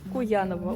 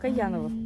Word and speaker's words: Куяново: Вы, во-первых, очень интересно произносите Куяново. У нас произносится Каяново. Ага. И для нас, конечно, это необычное такое звучание. Для нас Куяново, потому что Куян это заяц.